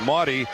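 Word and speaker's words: Mady: and eight rebounds and Maddie Maddie Marty excuse me pronounced Marty sissoko 69240 the Junior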